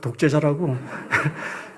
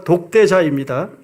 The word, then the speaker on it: 독대자: 제가이 발음을 잘못하다 보니 자꾸 독재자라고 독재자가 아니라 독대자입니다.